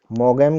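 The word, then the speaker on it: Maugham: और मोगम की है, मोगम भी बोलते हैं इसको, और कुछ इसको मोम भी बोलते हैं, इसका प्रोनाउंसिएशन मोगम और मोम भी है, तो इसकी है लंचन।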